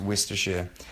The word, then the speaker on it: Worcestershire: I'm gonna use some soy, salt, paprika, some cumin, and Worcestershire. I'm not that bloody stupid. It's actually pronounced Worcestershire.